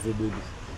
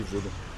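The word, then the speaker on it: Vodun: La meilleure des prononciations, c'est Vobodou et c'est le colon qui a dit Vodou. Sinon c'est Vobodou.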